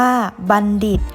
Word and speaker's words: บัณฑิต: หมาย เช่น กวาง เก่ง บัณฑิต อ่าน ว่า บัณฑิต เป็น ผู้ มี ความ